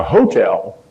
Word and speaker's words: hotel: ever find somebody who referred to it as the hotel Accent on the first syllable they've really been around